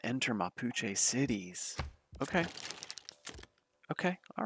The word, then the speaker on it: Mapuche: You know, I want to see how to pronounce this. Okay, Mapuche.